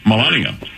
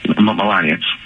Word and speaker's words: Melania: Trump's wife's name how do you say it Melania Melania um I firmly believe that that story was